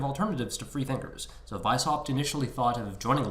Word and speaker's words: Weishaupt: Weishaupt. It's a German name, so you have to pronounce it properly, right? So Weishaupt. Hopefully, I'm pronouncing that correctly.